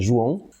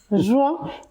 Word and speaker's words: João: Alors, le prénom bien prononcé, c'est João. João. Voilà, ça c'est en portugais. Ok. Voilà. Après, João, il n'y a pas de problème. Ou, ça dépend.